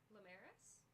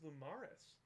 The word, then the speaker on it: Lamaris: She pronounced my character's last name correctly. Lamaris? Lamaris? Yeah. I kept thinking it was Lumaris.